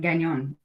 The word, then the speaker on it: Gagnon: Gagnon. Gagnon. So it's French. It's French. And my favorite way to help people with that is like the filet mignon. It's like Gagnon. Gagnon.